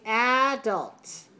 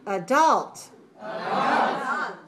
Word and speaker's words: adults: teachers child children now the next word has two ways to pronounce it okay so I want you to listen two pronunciations are correct you can say adults adults or you can